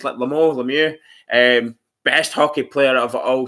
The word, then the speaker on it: Lemieux: Mario Lemieux, that's how you pronounce his Lemieux, best hockey player of all time.